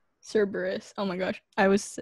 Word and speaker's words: Cerberus: what i want cerritos no i think it's service it's like the um wait i have to google it now greek with three heads yeah server cerberus cerberus oh my gosh i was i pronounced it